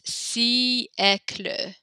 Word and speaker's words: siècle: And this is the way we pronounce this because there's the accent here on the E. You actually, there's you say the I and the E kind of separately. So it's siècle, siècle.